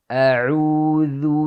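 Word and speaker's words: أعوذ: Jadi ada beda, kalau hamzah ada di bawah tenggorokan, ain ada di tengah. A'u. A'udzu billah, billah.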